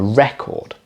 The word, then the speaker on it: record: But if we had, for example, a big vinyl LP, I might talk about that being a record. So the stress is at the start.